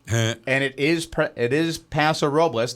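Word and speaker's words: Paso Robles: it is it is pasor robas that's how you pronounce all those letters together here I say pasor robas those who have lived close enough to it forever and ever amen pass the robbles yeah although and I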